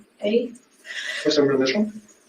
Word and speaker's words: Ezra: Ezra.